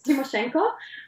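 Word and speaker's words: Tymoshenko: no no I mean yes of course you pronounce it correctly it's timoshenko and no uh you my dad was not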